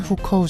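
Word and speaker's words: 户口: 농민공에 대해 이해하려면 중국의 호적 제도인 호구제도, 중국 발음으로는 후커우 제도에 대해 이해해야 합니다.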